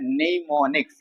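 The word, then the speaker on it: mnemonics: नाम देते है निमोनिक्स देखिए निमोनिक्स य उच्चारण कर रहे हैं तो इसका स्पेलिंग क्या होता है एन ई एम ओ एन आई सी एस ठीक है लेकिन इसके पहले एम लगता है क्या लगता है एम है ना एम साइलेंट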